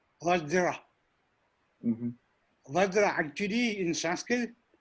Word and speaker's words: Vajra: What would be the kind of, closer pronunciation of Vajra? Vajra. Vajra.